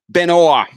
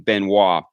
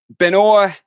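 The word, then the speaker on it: Benoît: If what you're telling me is true, he's not pronouncing it correctly because he's not saying Benis. But Benoa spent some time at the net as well.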